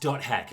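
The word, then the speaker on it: .hack: go h is for hack okay it's actually pronounced dot hack but the dot symbol isn't in the alphabet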